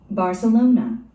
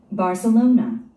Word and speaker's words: Barcelona: Barcelona, Barcelona, Barcelona, Barcelona. 여러분들은 어떻게 들으셨습니까? 우리 한국인들은 이 단어를 바르셀로나라고 발음합니다. 바르셀로나. 그런데 원어민들, 네이티브인들은 발세로나라고 발음하죠? Barcelona, Barcelona, 삼음절에 스트레스가 옵니다.